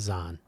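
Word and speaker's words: Zeihan: You can listen to or watch various presentations from Peter Zahan, however you'd like to pronounce his name. I think he says Zahn.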